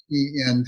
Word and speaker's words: ENV: created a concept that gm called env electrically networked vehicles or pronounced envy it was the star